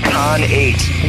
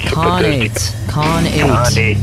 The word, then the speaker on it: Khanate: do I say it it's con8 why do I always want to say like a WRA of con you know con yeah eight the number eight con eight yeah sorry dude everybody